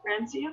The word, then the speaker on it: francium: And those rows go all the way down to where the francium, is that how you say it?